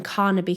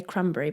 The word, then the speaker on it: Carnaby: were actually staying in carnaby Creek I keep wanting to say cranberry but it's carnaby Creek I think cranberry sounds